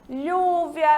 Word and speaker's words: lluvia: Já o LL, ele é pronunciado como se fosse LH, lluvia, rodilha, llorar, tá certo? Então, quando a gente tiver a junção de dois L's, a gente pronuncia como o LH de língua portuguesa.